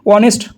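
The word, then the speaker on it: honest: উচ্চারণটা প্রথমে আসছে, প্রোনাউন্সিয়েশনটা অনেস্ট, এখানে এইচটা সাইলেন্ট থেকে ওর প্রোনাউন্সিয়েশনটা প্রথমে দিচ্ছে, ওই জন্য অ্যান ইউজ হয়েছে।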